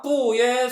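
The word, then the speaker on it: 不: 자, 다시 사성 앞에서는 2성으로 발음한다.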